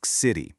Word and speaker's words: Xity: We call this a city, spelled with an X for exoterrestrial, but pronounced with a hard K.